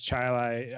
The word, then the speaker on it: Chile: I was like, yeah, it's Chilai. I know it's spelled Chile, but we spell it Chilai.